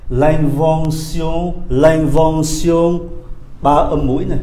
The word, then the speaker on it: invention: À, chúng ta qua cái âm nữa là âm sion, viết bằng T I O N mà đọc là sion, nó khác tiếng Anh nhé. L'invention, l'invention, ba âm mũi này, l'invention, phát minh.